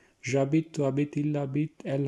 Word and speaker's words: j'habite: j'habite, je habite, j'habite। देखिए एच को बीच में साइलेंट किया इसलिए j'habite इकट्ठा पढ़ रहे हैं इसको। je habite नहीं पढ़ना है इसको, ठीक है।